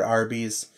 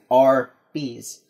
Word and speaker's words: Arby's: No, so if you spell it... I want some Arby's. I'm putting America in there, but it's not America, it's roast beef, so R, A-R, also, okay. You can also read it as R, and then B's, it's